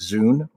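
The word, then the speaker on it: Zun: It's spelled Z U N. It's still apparently pronounced Zoo.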